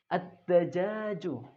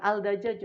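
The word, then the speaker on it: الدجاج: Ad-dajaju. Ad-dajaju. Ayam. Jadi bukan al-dajaju tapi ad-dajaju. Jadi alif lamnya ini samar atau tidak jelas dibacanya.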